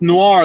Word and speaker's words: noir: that's nor Noriega bro it's pronounced nor like Ellen or masking like you they